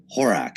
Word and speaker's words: Horak: does how do you say your last name horack horace horak yeah okay uh i can tell you about